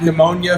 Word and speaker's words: pneumonia: Okay, pneumonia, I did it. Pneumonia, pneumonia. People always say it's spelled with a PH, so I totally get where you get that.